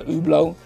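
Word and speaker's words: Hublot: just sold the oblo yeah that's how you pronounce it finally the oblo has been sold it just needed the right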